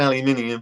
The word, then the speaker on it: aluminium: I pronounce it aluminium because there's an I next to the U and M.